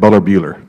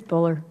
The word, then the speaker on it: Buller: Bueller, the U, a short U or a long U? Is that Bueller? It's Buller. Okay, Buller.